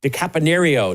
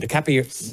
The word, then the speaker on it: DiCaprio: And that was starring Leo DiCaponio. DiCaprio.